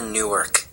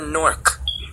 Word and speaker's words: Newark: I didn't grow up near Newark. That's in Delaware. I grew up near Newark.